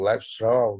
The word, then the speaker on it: Lévi-Strauss: Já o Claude Lévi-Strauss, né, alguns falam Lévi-Strauss, Lévi-Strauss, tanto faz a pronúncia aqui, ele segue uma ideia semelhante, mas